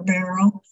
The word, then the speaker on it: Beryl: It's pronounced Beryl, like the first part of the word, Beryllium. Uh-huh. I grew up hating my name because of the way people said Beryl or Beryl.